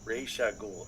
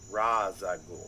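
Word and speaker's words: Ra's al Ghul: ] okay Raa gou his name's Raa goul and ain't Raza gou so it's multi-million dollar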